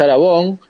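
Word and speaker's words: Aragon: hay que decir que la pronunciación correcta es aragón pero para una gran parte del público de saragó gar este así que bueno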